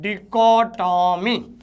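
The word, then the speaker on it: dichotomy: तो पहले तो DI को क्या कहते हैं, CHO को चो नहीं पढ़ा जाएगा, यहाँ पढ़ा जाएगा को, और टॉमी, इसको पढ़ा जाता है डिकोटॉमी, ध्यान रखना।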